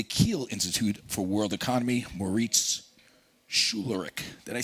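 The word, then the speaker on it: Moritz Schularick: We have the president of the Kiel Institute for World Economy, Moritz Schulerich.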